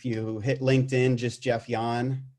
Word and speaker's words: Jahn: And if you hit LinkedIn, just Jeff Jahn, just like you're tired, but it's spelled Jahn is my name.